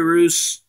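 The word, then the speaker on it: Jerry Reuss: Jerry Roos, or Rice, however you want to say his name. I think it's Roos.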